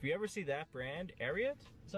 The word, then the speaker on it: Ariat: If you ever see that brand, Ariat, is that how you say it?